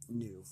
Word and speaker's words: gnu: as an a GNU like a new but pronounced new the fabulous Wizard of Oz retired from business